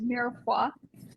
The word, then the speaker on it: mirepoix: I think it's pronounced mirepoix. Grant could probably back me up there. That's the That's it. Nailed it.